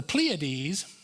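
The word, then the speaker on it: Pleiades: pleades I never knew that's the way he pronounced it till I looked it up this week the pleades and Orion and overturns the shadow of of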